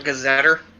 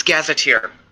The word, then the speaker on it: gazetteer: it's here here wait so it's not gazetter i don't know how it's pronounced i've only ever seen it spelled um it's gazetteer hey i was right